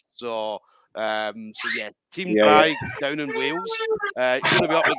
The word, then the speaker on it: Draig: I'd been saying Draig for so long, even to Ash Williams. I was calling it the pronunciation down to a T.